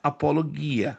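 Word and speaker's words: ἀπολογία: A palavra apologética vem da palavra grega apologia, mas se pronuncia apologia. No grego que se pronúncia apologuia, né?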